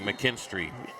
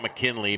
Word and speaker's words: McKinstry: I said Russ's last name wrong. McKinstry, not McKinley, McKinstry.